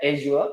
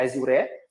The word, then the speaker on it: Azure: So this is for the fundamental, and then we have Azure or Azure, right? The pronunciation will be either Azure or Azure, right?